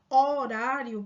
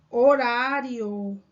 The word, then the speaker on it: horário: vocábulo horário percebam que quando você pronuncia horário pessoal o h ele é um som mudo não é então se